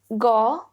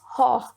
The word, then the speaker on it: Gogh: Now, he was a Dutch person, so Americans pronounce it differently. British pronounce it differently. It's like Vincent Van Gogh or Vincent Van Gogh, but as per the Dutch language, it is Gogh.